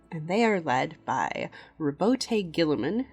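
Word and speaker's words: Roboute Guilliman: they are led by Rabote Gilliman, whose name is often mispronounced by the community. There's a whole list of them, but the number one mispronunciation that I see is Rowboat Girly Man.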